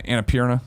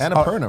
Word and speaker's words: Annapurna: Annapurna, right? Annapurna.